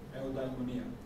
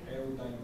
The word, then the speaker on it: eudaimonia: That's Greek. Eudaimonia. That's how it's pronounced. Eudaimonia.